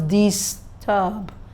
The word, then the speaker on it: disturb: So you can't pronounce disturb. That means you have not accentuated the word properly. So it is dis and turb. So once you get to the second syllable, it goes high.